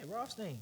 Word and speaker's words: Rothstein: Yeah, Rothstein.